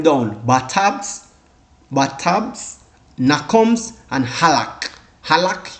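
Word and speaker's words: halach: Halak, unique. So you need to know how to pronounce it.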